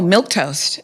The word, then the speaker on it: milquetoast: Okay, now I do not know how to pronounce either of these words and I was hoping that you knew. Oh, milk toast is the first one and board.